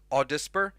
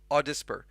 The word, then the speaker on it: AUDSPR: And also, you'll be introduced to David, who is Audisper. That's how he pronounces AUDSPR, his company, Audisper. He pronounces it like that.